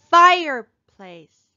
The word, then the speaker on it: fireplace: Fireplace, fireplace. Where do we hear the accent? Fireplace, fireplace. We hear it in the first syllable.